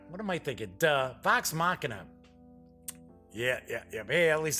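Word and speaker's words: Vox Machina: Mack you know what am I thinking uh box machina yeah yeah at least say I'm now pronouncing that correctly pike trick foot the gnome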